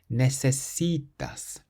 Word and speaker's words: necesitas: So we stress the C, which is the syllable before last. Necesitas.